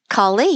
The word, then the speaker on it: Kali: I want to shift gears a little bit and talk about um Is it And, I think I mispronounced your name earlier. Is it Kali? Kali, yes.